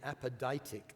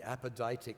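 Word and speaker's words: apodictic: into two categories category number one is the apoditic laws the apodic laws i'll spend that spell that out for you a p o d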